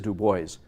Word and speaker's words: Du Bois: puppy you know and you don't say marseille you know anything any french place names in the united states are always pronounced differently so it is dubois williams william edward berghardt